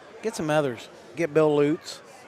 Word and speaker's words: Lutz: Like Jeff Lutz, but it's Loots. Bill's name is pronounced like L O O Ts.